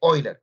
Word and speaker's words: Euler: oiler teorema de quién teorema de oiler que se escribe Euler No es cierto el